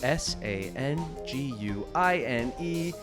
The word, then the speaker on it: sanguine: It is spelled s a n gu i ne.